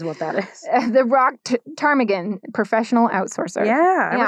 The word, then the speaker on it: ptarmigan: Today's bod is called the rock ptarmigan with a silent P.